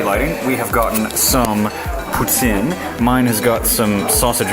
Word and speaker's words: poutine: So yeah, behold a very good Montreal poutine, or if you are Anglophone, you probably pronounce it poutine.